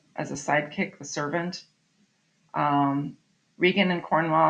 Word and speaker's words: Regan: And you might even be so unfortunate as to hear another teacher pronounce it wrong. It is Gloucester, and that's Regan, not Reagan, Regan.